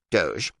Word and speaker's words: doge: odd years old doge venetians call their leader a doge pronounced doge led the sack of